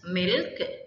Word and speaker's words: milch: The C is silent, milk animal.